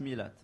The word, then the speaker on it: Millet: to pronounce it correctly it's pronounced millet millet okay they're like big letters and small letters so yeah alright go